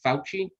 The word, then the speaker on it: Fauci: may not know who how do you say his last name fauci ouchy yeah what is his